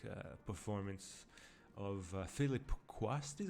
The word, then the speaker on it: Philip Quast: uh the legendary like uh performance of uh philip quast is how you say his name the dude